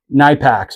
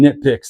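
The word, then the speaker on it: Knipex: This is where we love to use our Nipacks, or people call them nitpicks. They pronounce the K when you shouldn't, because you don't say knight, you say night if you're referencing that.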